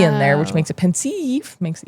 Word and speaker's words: pensieve: Oh, pensieve. That makes more sense. I was calling it pensive.